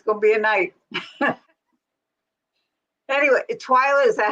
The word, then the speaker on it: Twila: poof wow it's gonna be a night anyway Twilight is that how you say your name yes Twilight okay I didn't want to say it wrong